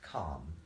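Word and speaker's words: Kem: go on that Journey calm is the old name for Egypt pronounced calm yeah it might say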